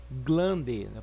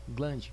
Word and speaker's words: glande: é chamado de glande é assim que se escreve sem que se fala tá glande com Elle mesmo tá grande cu e o interior